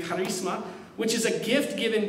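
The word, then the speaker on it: χάρισμα: The word in the Greek is charisma, is how you say it in the Greek, charisma, which is a gift given graciously and generously.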